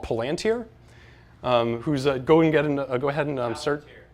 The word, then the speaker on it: Palantir: can't make this shit up, a company called Palantir, who's go ahead and search. That's how it's pronounced. Trust me. That's how it's pronounced. Palantir.